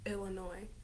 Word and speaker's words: Illinois: anybody who didn't know illinois is illinois because the s is silent but yeah lifesavers indiana